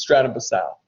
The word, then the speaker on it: Stratum Basale: Now listen, that's how I pronounce it. And I pronounce it like that phonetically so you know that there's a silent E at the end. Technical way to, I don't want you guys to think I'm an idiot. All right, but the proper way to pronounce it is Stratum Basale.